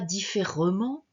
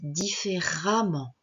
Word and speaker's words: différemment: on ne dit pas différemment on dit différemment on va prononcer le E on va le prononcer